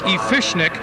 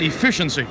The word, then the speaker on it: Efficiency: this is the one now you pronounce this it looks like a fishnick but really this is efficiency efficiency in the Ron